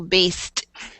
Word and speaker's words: based: This one, we don't have a separate syllable here. It's just one syllable, based.